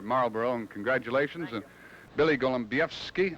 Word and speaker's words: Golembiewski: bro and congratulations Billy Golem BFI that's the way you pronounce it huh that sure is perfect huh we'll see you